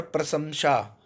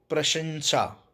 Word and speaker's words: प्रशंसा: उच्चारण है इसका बहुत और प्रसंशा और सही उत्तर है इसका प्रशंसा ठीक है जूस का शुद्ध